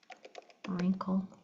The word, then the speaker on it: wrinkle: Um we have WR very common you hear the R you don't hear the W. So in right wrinkle wrap.